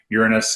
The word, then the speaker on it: Uranus: probes bakkoto it's always a trick how to pronounce us we're Uranus and yeah that's the proper historical pronunciation I